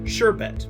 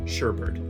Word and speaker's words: sherbet: This mistake comes out because of the mispronunciation of the word sherbet, which a lot of people do pronounce Sherbert.